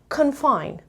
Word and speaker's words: confine: delays okay number two confine confine again this is a schwa sound confine confined and the stress is on the second level this is not very